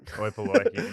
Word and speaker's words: Oi Polloi: Oi Polloi.